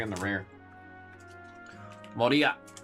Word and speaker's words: Moria: Moria. Finally saying Moria instead of Moira. Always have that friggin' Overwatch character pronunciation.